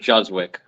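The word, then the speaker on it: Juszczyk: the fullback 44 from the 49ers I said rusak it's not it's not it's um I pronounce it juzwick J yeah that's it that's it I knew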